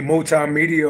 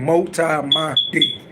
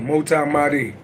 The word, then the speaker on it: MultiMahdi: Motherfucker could be calling me multimedia, all type of shit. I'm right, okay. By the way you pronounce my name, MultiMahdi. So MultiMahdi.